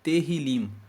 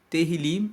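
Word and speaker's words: Tehilim: Salmos é um livro que no hebraico se pronuncia terril se escreve t e h i l i m teril significa Louvores e os salmos é um livro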